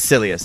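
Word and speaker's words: Silius: to journey to sileus yes silliest that's how you say it about 10 times fantastic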